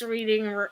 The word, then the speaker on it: Reading: to Monopoly is op the correct way to pronounce the name of the roadroad is reading as in Reading Pennsylvania that's from Hasbro oh